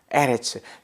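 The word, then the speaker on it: אֶרֶץ: 에레츠는 땅. 에레츠. 앞에 액센트가 있으니까, 스트레스가 있으니까 강세를 앞에 둔다고 에레츠라고 합니다.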